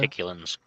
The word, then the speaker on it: Reticulans: I think that's how you pronounce that. Zeta. Reticulans.